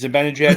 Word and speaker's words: Zibanejad: His name is Mika Zibanejad. Yeah, it's Zibanejad, and I also think it's Kreider.